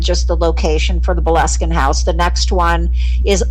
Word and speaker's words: Boleskine: aren't familiar, and just the location for the Boleskine House.